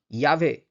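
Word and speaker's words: llave: Double L যখন থাকবে কোনো শব্দে তখন কিন্তু উচ্চারণটা ইউ ইউ মানে ইয় উচ্চারণের সঙ্গে হবে। যেমন ইয়াভে, ইয়াভে মানে হচ্ছে চাবি, ঠিক আছে?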